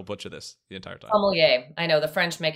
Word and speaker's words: sommelier: On that note, what is the official pronunciation? Because I will butcher this the entire time. Sommelier.